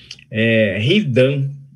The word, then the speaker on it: Hidan: Se pronuncia Hidan, é do Naruto.